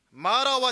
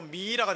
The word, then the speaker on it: 마라: 마라와 치료 두 사이에 뭐가 있느냐? 예수님의 십자가의 은혜가 있습니다. 이렇게 한번, 죄송하지만 서로를 향해 축복합니다. 당신 인생은 마라가 아닙니다. 은혜 인생입니다. 시작. 발음 잘하세요. 미라가 됩니다. 미라. 마라입니다. 마라.